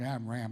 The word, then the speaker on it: Amram: amam on song because it rhymes with Jam David amram and J which you